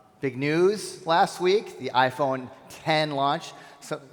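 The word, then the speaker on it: iPhone X: Big news last week, the iPhone 10 launch. So it's interesting, there was an article that came out that said people are mispronouncing 10 because they look at the X, they call it the X.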